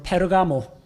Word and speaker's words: 버가모: 책망을 안 하십니다 그리고 버가모 교회 AD 312년부터 606년입니다 보가모 영어식 발음으로 페르가모 명품 패러가모 아시죠 결혼이란 뜻입니다 세상과 결혼한